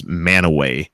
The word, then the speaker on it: Mantua: We have a Mantua, Utah, spelled like the Italian town, but it's Manaway is what they say it as.